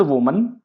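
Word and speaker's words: woman: एन ओल्ड वुमन। अब इस शब्द को भी कई बार लोग गलत प्रोनाउंस करते हैं। इस शब्द का करेक्ट प्रोनाउंसिएशन है वूमन।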